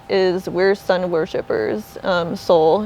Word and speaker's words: Sol: we're Sun worshipers um Soul it's s-o-l like sun in Spanish but phonetically it sounds like Soul Awakening like waking people up